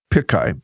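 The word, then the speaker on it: Pichai: Talent all right gle's chief executive and I'll mispronounce its name Sundar Pai pikai p i c h AI has said AI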